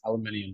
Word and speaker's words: aluminium: Like he was just talking about the aluminum boat, and it's aluminium to y'all. Aluminium. Aluminum, yeah. Oh, you say aluminum? Like, really? Aluminum, aluminium, same.